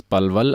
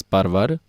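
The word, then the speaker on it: Palwal: in palval people in the region around palval pronounce palval as parvar Dalia as darya L is pronounced as R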